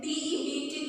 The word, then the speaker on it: debt: D-E-B-T, debt. B is silent here and it is spoken as debt.